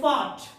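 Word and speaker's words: fart: Next one देखते हैं जैसे हवा खारिज करना है ना इसको बोलते हैं फार्ट. यहाँ पे आर क्या है साइलेंट है क्योंकि आर के बाद क्या है टी डेट मीन्स कॉन्सनेंट.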